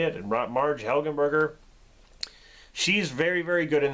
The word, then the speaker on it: Helgenberger: But Marge Marge Helen Helenberger, I think that's how you say it. Marge Helgenberger, she's very very good in this.